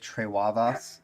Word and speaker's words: Trewavas: Trewavas is how you say it.